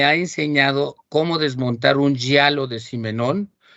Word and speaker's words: giallo: pronuncio bien, hasta estuve buscando la pronunciación exacta, giallo. Se escribe Giallo y quiere decir amarillo.